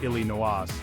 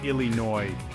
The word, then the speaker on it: Illinois: talking about Illinois now you might be tempted to pronounce that S at the end making it Illy noas but hold on there my friend because in this case silence is golden the correct way to say it is Illinois nice and smooth just like a Chicago